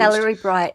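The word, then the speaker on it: Cellebrite: Celery Bright is how you say it.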